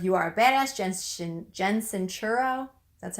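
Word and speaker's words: Sincero: the author of you are a badass Jensen Jensen sure oh that's how you say her name she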